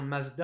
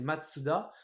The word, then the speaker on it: Mazda: on la prononce bien Mazda avec le Z mais il faut savoir que ça a été écrit comme ça en fait ça a été stylisé à l'allemande de base que la marque c'est Matsuda et on l'a stylisé en romaji mais à l'Allemand vous savez que le Z en allemand se prononce 7 donc